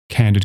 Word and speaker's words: candid: But the word candid, as in candid conversation, has the more relaxed usual pronunciation of the letter if since it is not at the end of the word.